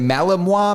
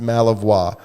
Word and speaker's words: Malinois: say it is it Malinois Malamute Mala Malamute is a different dog but the Belgian I think it's pronounced malavois Belgian malawa look it's that murder